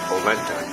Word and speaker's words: Orenda: of here okay girls the name orenda is actually a native american word pronounced polenta it is the force